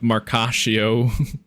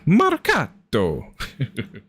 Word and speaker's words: Marcato: It's a me, Marcatio, instead of it's a me, Marcato. There's a little bit more enunciation on the official one, you know.